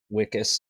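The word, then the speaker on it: Wikus: Because like obviously like Wickus or Vicus, what however the fuck you say his name. Wickus. Wickus.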